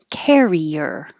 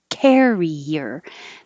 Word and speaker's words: carrier: Carrier. Carrier. The verb carry uses the vowel air. So you have to open a little bit more. Air. Care. Carrier.